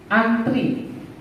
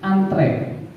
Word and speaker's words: antre: Kemudian yang sering selalu kita salah menyebutkannya antri. Harusnya dalam bahasa Indonesia kata bakunya yaitu antre.